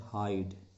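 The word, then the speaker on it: hide: तो इस शब्द को आप देखिए, ये ई के साथ है और इसका उच्चारण है हाइड और अब इसका उच्चारण हो गया हिड.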